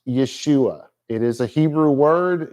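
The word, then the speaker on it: ישוע: red we get y this symbol is the sh sound in English and you combine that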